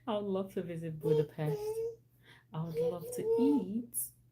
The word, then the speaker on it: Budapest: I know it's pronounced Budapest, not Budapest, like the pest. I would love to visit Budapest.